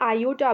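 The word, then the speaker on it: iota: तो देखिए यहाँ पर 3i हमने लिखा, ठीक है, और ये जो आई है इसको हम आयोटा भी प्रोनाउंस करते हैं, ठीक है, आयोटा।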